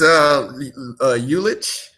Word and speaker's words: Ulich: He is Ulich. Ulich, okay. I had a feeling when I was looking at it, I was saying it wrong. Your thoughts? Some people might say Lulich, some people might say Ulich.